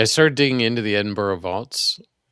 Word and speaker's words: Edinburgh: He he corrected me last time, so it's it's it is Edinburgh.